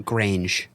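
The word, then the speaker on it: Grainge: Because Lucian, how do you pronounce that last name? Grange.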